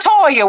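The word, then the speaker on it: Toye: see the a little Toya where do you see the L A at my name is toy the E is silent damn it quit changing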